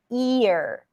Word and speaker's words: ear: A lot of times what happens is that people, again, anticipate the R, and then what happens is that they don't fully pronounce the E. So it ends up being something like fear and not fear.